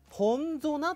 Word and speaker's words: Ponzona: ですよそしてデビュー曲がこれはほんぞなという発音すればいいんですよね